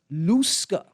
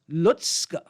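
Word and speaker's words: Lusca: first thing is this it's not pronounced luska it's pronounced lutzka as if there's a t in there right lutzke that's a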